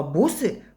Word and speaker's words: бусы: Вот первый слог это ударный, а это ударение мы отметили, да? Бусы. Четче и дольше тянется в первом слоге буква У. Бусы. Падает ударение на гласную У.